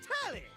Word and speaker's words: Telly: The name's Telly. Rhymes with Nelly. Like telly the television.